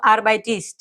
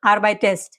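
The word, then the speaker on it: arbeitest: যেরকম এইযে স্টেম আরবাইট শেষে কিটি আছে এখন যদি আমি বলি যেডু আরবাইটিস এটা কিন্তু ভুল উচ্চারণ হবে কি বলতে হবে যে ডু আরবাইটেস্ট একটা এক্সট্রাই যুক্ত করছি ঠিক আছে এইটাই নিয়ম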